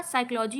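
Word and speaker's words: psychology: जैसे आपका साइकोलॉजी हो गया। तो साइकोलॉजी में अगर आप ध्यान दें तो आपको लग रहा होगा या तो मीनिंग एस से स्टार्ट होगी या सी से होगी, लेकिन नहीं, इसकी मीनिंग पी से स्टार्ट होती है। PSYCHO, ये पूरी इसकी स्पेलिंग होती है।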